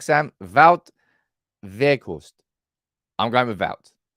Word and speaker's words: Wout: How you pronounce it at the start of the video was correct, Sam. Wout Weghorst.